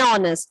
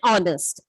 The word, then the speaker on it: honest: has a, that is the word may begin with H, but it has a vowel sound. That is R and honest. In that case, we have to use article and before the word. That is an R and an honest.